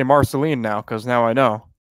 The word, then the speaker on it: Marceline: that is not at all say it it's Marceline all right Marceline Dione sorry I don't watch